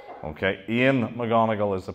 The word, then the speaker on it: Eoin McGonigal: Ian, not Owen McGonagall like in the TV program when they got that wrong. Okay, Ian McGonagall is the pronunciation the family make.